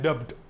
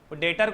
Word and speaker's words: debt: बोलते पब्लिक डेप्ट, पब्लिक डेप्ट, डेटर को भी डेप्टर बोलते। नहीं भाई, अपने को इंग्लिश नहीं आती है तो भी डेट। क्या बोलने का? डेट। क्या बोलने का? डेट। क्या बोलने का? डेट। B silent, B silent, B.